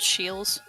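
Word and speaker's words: Scheels: It's called Shields.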